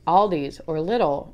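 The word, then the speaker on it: Lidl: like all these or little or some people I guess pronounce that Lydell which is I don't know light a light a light all it just sounds weird but you can go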